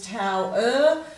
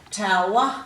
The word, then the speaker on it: tower: It's probably easier to pronounce them correctly, which is tower, shower, flower. Quite often we give that sound at the end of a word a schwat sound. It's like a grunt sound where we go tower, shower, flower. But that makes it harder to spell.